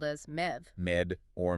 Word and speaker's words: Medb: Well, the report insists that MAB originates from the ancient Celtic goddess Med, spelled Me DB, but pronounced and later spelled as Mev. Med or Mev.